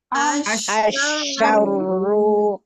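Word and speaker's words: الشَّرُّ: Nah, di sini berarti synya harus kita tahan sedikit lagi ya. Sekali lagi coba. Asyaru asarru. Nah, jadi harus ditahan sedikit lagi huruf syinnya ya, jangan terlalu terburu-buru.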